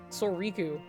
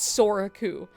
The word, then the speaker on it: Soriku: Soriku. Anyway, Soriku. I intentionally tried to lean on the I for you guys, and it wasn't good enough, okay? Everyone still said I said it wrong.